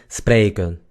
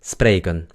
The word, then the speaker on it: spreken: Los holandeses a veces no pronuncian la EN al final, sino que dicen spreken, spreken. ¿Me entienden? Pero no importa, la pronunciación es spreken, spreken.